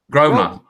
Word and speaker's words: Grosvenor: 7,000 person tournament sponsored by Grosvenor? How do you say that? Yeah, Grosvenor.